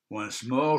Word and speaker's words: Once More: Once More se prononce comme en anglais.